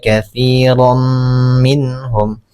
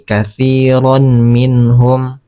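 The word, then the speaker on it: كثيرا منهم: Ma bacanya tumma inna katsirom minhum katsir katsir jadi bukan lagi katiron minhum. Jadi cara membacanya katsir minhum.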